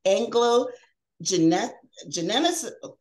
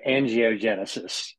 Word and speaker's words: angiogenesis: He is the president and medical director of the Anglo-Genesis, I know I was going to mess that up, Anglo-Genesis. It's actually pronounced angiogenesis.